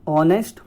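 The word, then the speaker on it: honest: तुम एक ईमानदार व्यक्ति हो, यू आर एन ऑनेस्ट person. देखिए ऑनेस्ट के साथ एन का प्रयोग इसलिए होता है क्योंकि एच साइलेंट होता है।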